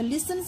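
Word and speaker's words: listens: শোনে এবং পড়ে তো লিসেনস কথার মানে হচ্ছে এখানে লিসেনার প্রোনাউন্সিয়েশনটা দেখবে এখানে টি টা সাইলেন্স রয়েছে লিসেনস অনিল শোনে এন্ড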